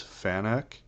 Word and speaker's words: FANUC: this for fanuc um some people pronounce this fanak but uh i always pronounce it fanuc so i'm not sure which it is it's an acronym and